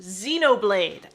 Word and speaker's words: Xenoblade: laugh at joke god i'm funny z it's pronounced xenoblade thank you turtugus florticus that is a nice